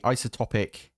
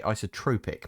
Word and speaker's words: isotopic: So, in this case, it's the isotopic centrifuge. I think that's how you say it. I used to say isotropic, but there's no R in there.